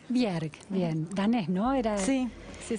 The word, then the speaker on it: Bjerg: Estamos con María, ¿cómo se pronuncia? Bjerg. Bjerg, bien, danés, ¿no?